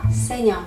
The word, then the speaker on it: saignant: 그래서 세뇽.